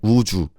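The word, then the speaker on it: 우주: So it's Park and Uju. Uju is exactly as it is written.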